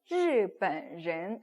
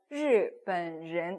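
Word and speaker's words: 日本人: 그럼 일본인은 日本人. 예. 저는 일본인 발음이 좀 어려워하시는 분들이 많더라고요. 왜냐면 꽉다가 폈다가 이런 거 해야 되잖아요. 그래서 日本人 이렇게 해야 되니까.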